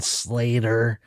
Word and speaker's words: Slayyyter: had Wet Leg on, Slater, which is spelled Slayyyter, and that throws me off.